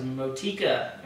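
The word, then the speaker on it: Motueka: Motika. I guess that's how you pronounce it.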